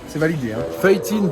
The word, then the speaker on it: feuilletine: que tu as la feuillantine. C'est incroyable. Tu as vraiment ce goût bueno, très prononcé. C'est validé, hein. Feuilletine, pas feuillantine. Parce que feuillantine, c'est avec du jambon et la vie dedans.